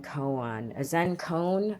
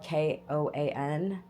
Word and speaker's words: koan: heard of a Zen koan, or koan, I don't know it's spelled Koan, not moan, koan.